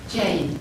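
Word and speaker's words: Jayn: Jane, J-A-Y-N.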